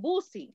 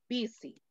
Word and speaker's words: busy: Un error que cometen muchos los estudiantes es que ellos dicen busy. No. La pronunciación correcta es busy.